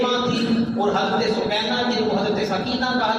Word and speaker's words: سکینہ: اللہ تعالیٰ عنہا کو پیدا کیا، جن کو سکینہ کہا جاتا ہے۔ صحیح تلفظ کے ساتھ سکینہ نام ہے، لیکن معلوم